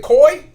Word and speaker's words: Coi: yeah it's it's it's i like is it koi yeah c-o-i so it's just koi yeah coil-o-ray like boy we'll put a a c instead of a y or i quarter koi what yeah is she having a beef with